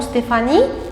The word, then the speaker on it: Stéphanie: Vous avez entendu le son feu dans le mot Stéphanie. Mais est-ce qu'il y a la lettre F dans le mot Stéphanie?